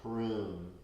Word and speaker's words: Hrum: And here, in this position, the mantra is Om Hrum, H-R-U-M.